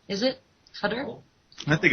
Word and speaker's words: Qatar: it is a country Qatar oh and it's pronounced cutter is it cutter I think it's Kar cutter yeah okay so